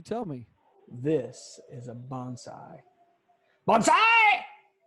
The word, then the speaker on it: bonsai: Isn't it a nice bonsai?